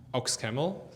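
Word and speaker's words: OxCaml: it um ox ox camel just to pronounce it correctly and uh yeah and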